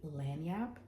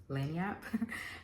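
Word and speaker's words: lagniappe: you're going to um another uh French Cajun word is going to be lanap it's spelled l a g i n a p p e lanap um but it basically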